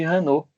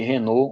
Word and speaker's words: Raynaud: Ele classificou aqui o Auguste Gabriel Maurice Renault, né, como o fenômeno de Renault, né, que também é conhecido como síndrome de Renault ou Raynaud, né, dependendo da sua pronúncia.